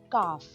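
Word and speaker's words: calf: है इसे कहते हैं कफ इसमें एल साइलेंट होता है उसे कहते हैं शनि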